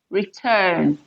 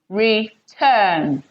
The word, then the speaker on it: return: should your stress fall for two level verbs your stress should fall on the second syllable for example you have return return okay accept accept so here we have return second syllable stressed okay accept second syllable